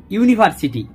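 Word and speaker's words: university: বসাবো এক্সাম্পল হিসেবে বলি ইউনিভার্সিটি ইউনিভার্সিটি এখানে ইউ টা ইউ এর মত এপ্লাই হচ্ছে সুতরাং এখানে এ বসবে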